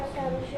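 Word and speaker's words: الشمس: ta sa dada rza sa sya sh do th do lana cara membacanya huruf lam tidak dibaca tetapi dilembur tidak gem ke dalam huruf sesudahnya dengan disertai tas contoh asamsu dibaca asyamsu diperhatikan disiapkan pertanyaannya nopal eh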